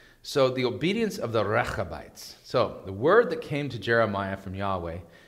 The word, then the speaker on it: Rechabites: You have to roll your R. Rah, rah, rah, Rechabites. And you got to get the ch in the back of your throat for that, okay? The Rechabites.